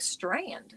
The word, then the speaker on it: Strand: Even though I'm not going to see one of those strand strand, it's just like strand. you have that word but strand is how it's pronounced and it means beach but I am in